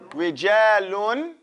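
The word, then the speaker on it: رِجَالٌ: Rijalun. Say rijalun. Because there's nothing here, so we have to pronounce the tanween clear, right?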